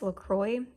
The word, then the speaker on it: LaCroix: it and then I have this I guess Lacroix is how you pronounce it and the pineapple strawberry and it's